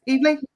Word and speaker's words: Eveleigh: Have I pronounced that right, Piers? Eveleigh?